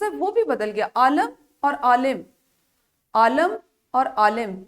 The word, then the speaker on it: عالم: اعراب کے ساتھ، یعنی پہلے لفظ میں زبر ہے تو دوسرے میں زیر ہے، اس کا جو اس کی ادائی ہے، اس کا تلفظ ہے، وہ بھی بدل گیا۔ عالم اور عالم، عالم اور عالم یعنی دنیا اور علم والا.